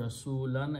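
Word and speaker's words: رسولا: So Rasulun will change to Rasulan as an object. Always object changes to two fathas and we add an alif. So Rasulan, when you stop there, you pronounce Rasula.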